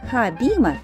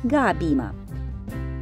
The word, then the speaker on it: Хабима: Хабиба национальный театр Израиля хабима на иврите означает сцена в русском языке произносится как габима в 1913 году у